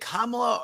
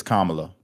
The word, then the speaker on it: Kamala: FOX NOW was it is it kamla or Cala it's Kamala that's what I said I think I usually